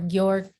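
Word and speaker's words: Győr: i play for uh george hungary or york hungary that's how you pronounce it um so i've been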